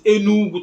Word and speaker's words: Enugu: We have the case of Enugu, which is Enugu, top of a hill or top of a mountain, which is supposed to be spelled Enugwu, but then it's spelled Enugu, which is Enugu, and Enugu, my brothers and sisters, doesn't have any Igbo meaning.